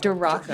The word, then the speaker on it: Durako: And right now we're sitting down with Durako. Is that how you say it? Durako. Durako.